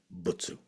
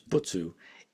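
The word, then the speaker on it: 仏: And here you see the single character for Buddha in SinoJapanese is very very often pronounced as butsu. So here a single character is being pronounced as butsu.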